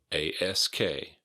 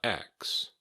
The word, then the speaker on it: ask: Ask. A-S-K. Ask, not ax.